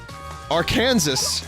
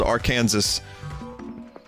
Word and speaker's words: Arkansas: We have a state called Arkansas that's spelled Arkansas. That's a true story.